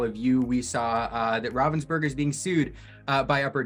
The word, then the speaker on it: Ravensburger: It is not Ravensburger as we want to pronounce it in English.